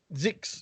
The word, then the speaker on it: Zyxx: I don't know how they pronounce that. It's Zix.